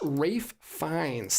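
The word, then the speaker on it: Ralph Fiennes: you Marty DM C it's actually pronounced Rafe fines thank you thank you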